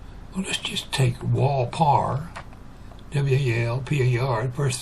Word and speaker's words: Pwalpar: A lot of times they'll try, but you can't pronounce a P and a W together unless you say Pwalpar.